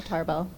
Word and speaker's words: Tarbell: So today we have Claudia Tarbell. Did I pronounce it close enough? Okay. Yeah, Tarbell.